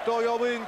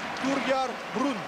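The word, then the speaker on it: Torgeir Bryn: Et Thor Yorbrun qui fait son entrée sur le parquet à la place de Thierry Galou. Pardon, maintenant on sait qu'il faut le prononcer grâce à Patrice Dumont. Thorgar Brun.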